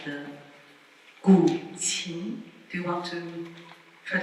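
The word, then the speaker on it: 古琴: So the first instrument I would like to present is this instrument called the gu qin. Do you want to try to pronounce it?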